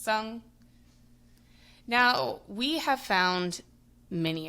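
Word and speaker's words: cong: So, it looks like it would be pronounced Kong, but it's pronounced sung.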